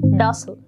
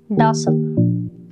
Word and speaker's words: docile: Not to mention here that docile is an American pronunciation, while in British you will pronounce the same word as docile. So both are correct and you can pronounce the word in both of the ways.